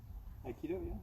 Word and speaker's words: Aikido: Aikido, Yeah, Aikido.